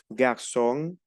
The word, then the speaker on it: garçon: La C cedille es una S. Pronunciamos aquí garçon, maçon, français.